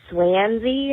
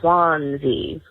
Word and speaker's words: Swansea: Um but I was really just calling to say you pronounced Swansea wrong. You said it was swansy and it's swansy.